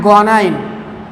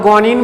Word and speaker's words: guanine: इन the case of प्यूरिन there was एडिनाइन एंड ग्वानाइन. इसको आप एडेनिन और ग्वानिन भी प्रोनाउंस कर सकते हो.